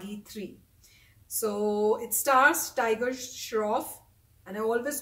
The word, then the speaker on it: Shroff: movie is bog III so it stars tiger shroff and I always call him what what do I call every time I call him something else instead of Shroff I think I called him short and then he keeps telling me it's not